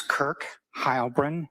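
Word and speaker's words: Kirk Heilbrun: My name is Kirk Hybrin. That's spelled K I R K and then H E I L B R U N.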